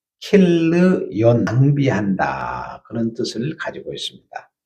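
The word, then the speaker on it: כִּלְיוֹן: 말론이라는 말은 원래 마흘론, 그래서 병약, 질병으로 몸이 약하던 사람이라는 뜻을 가지고 있고, 그 다음에 기론, 원래 킬르yon, 히브리의 원문은 발음을 정확하면 킬르yon, 낭비한다, 그런 뜻을 가지고 있습니다.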